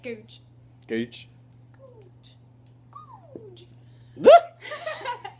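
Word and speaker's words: Goodge Street: Gooch. Googe. That's how they say it, Googe.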